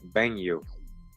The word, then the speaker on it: Banu: Banu is intended here however the phonetics are modified somewhat the spelling means that the sound was B on o as we might pronounce it but more like benu I'm not the first